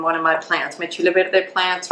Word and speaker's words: chile verde: I'm Northern Mexican, so I should pronounce chile verde how it needs to be pronounced by a Northern Mexican proper, which is chile verde. A little bit even faster, chile verde, like that.